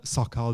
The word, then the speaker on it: Szakal: easiest it's my name it's an hour pod so Kyle there aren't that many in the wave we should spell that it's an AARP ad so it's Alfa